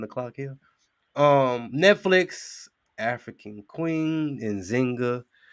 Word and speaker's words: Njinga: Netflix, African Queen, Nzinga, or Njinga is really the pronunciation of her name.